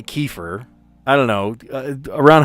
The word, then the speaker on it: kefir: They sell I mean they sell kefir or kafir. I've heard both pronunciations. I say kefir.